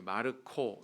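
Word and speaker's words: Marco: 마르콘, 그 마가라고 우리가 이렇게 부르는 그 이름은 또 이렇게 마르코 이렇게 발음을 합니다.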